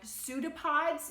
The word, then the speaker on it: pseudopod: with a sound and pseudopods even though it starts with the letter P that p is silent and that also starts